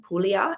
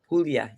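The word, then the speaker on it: Puglia: We have a new place in Italy that we're going Pula. Is that how you say it? Pulya.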